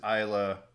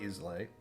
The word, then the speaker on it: Islay: First is Isla, and pronounced Isla, not Islay.